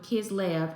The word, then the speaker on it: Kislev: Lord is saying in this Hebrew month of kid L I don't know if I'm pronouncing it right it's k i s l